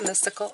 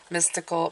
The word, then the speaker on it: Mystic: Is this mystical? I think this is I always say it wrong. Mystic Monday Tarot, okay? I always want to call it magic, mystical, but it's mystic.